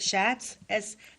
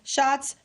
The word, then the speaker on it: Schatz: Schatz? S-C-H? Shots? Shots. I don't think that's Schatz. I don't know. I don't think it's Schatz. I think it's like Shots. It's Shots.